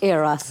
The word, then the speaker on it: Eros: It's Chef Eros, and today he's teaching us all about his own traditional Nigerian cuisine, and Jeannie's with him on the couch. I am indeed, Danilo. Now, Chef Eros, welcome to Afternoon Express.